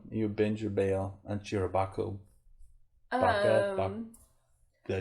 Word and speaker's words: SHIROBAKO: You binge or bail on SHIROBAKO?